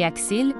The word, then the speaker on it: AXL: Au début du film, on nous présente AXL, prononcé Axil, via une vidéo promotionnelle.